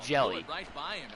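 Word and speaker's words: Jelle: h j e l l e but it's pronounced jelly yeah it's almost as tall as me six inch stilettos i will be six foot 11.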